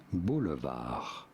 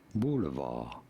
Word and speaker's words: boulevard: word of french origin in french it is said as boulevard hence the d being silent there you go even in english in english it is said as boulevard really i've always said